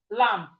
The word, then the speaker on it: lamb: When you look at this lamb, you can see that there at the end that that B is silent. Okay? But here is silent. But when you are saying it, you go lamb. When you're writing the B must be there.